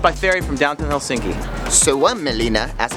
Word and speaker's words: Suomenlinna: Suomenlinna, as it's pronounced, is a UNESCO World Heritage Site that